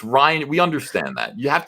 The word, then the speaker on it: Rian: Rion Johnson. No, it's Ryan.